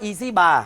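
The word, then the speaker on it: EZ bar: นี้ เรา เรียก ว่า Easy Bar Easy Bar หรือ ว่า EZ ใช่ มั้ย ออก เสียง ครับ ใช่ เพราะ งั้น ตัว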